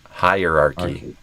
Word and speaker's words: hierarchy: But it's higher with the stress on high, and then archy. Hierarchy.